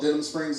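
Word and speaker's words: Denham Springs: have heard of it it's called Denim Springs Louisiana if you haven't heard of it you can Google it after the show it's spelled just like it sounds d e n KK k h a m SPS I did that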